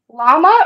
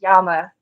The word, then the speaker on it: llama: that includes alpaca uh llama or the correct way to say it would be Yama right right we don't